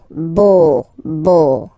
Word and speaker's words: beau: So remember this E, A, U combination of vowels only give you the sound O, beau, beau, okay?